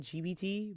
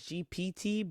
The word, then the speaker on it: GPT: I keep calling it GBT, but it's GPT, but I don't think any anybody pronounces like the P.